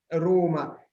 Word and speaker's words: Roma: Y si yo lo escuché bien, hace como casi una U al pronunciarla, no sé, una Roma. Roma. Es una O quizás más cerrada. Es Una O Roma. más cerrada. Pero no es necesario hacerla cerrada. Lo importante es que sea larga si queremos reproducir esta característica de las vocales.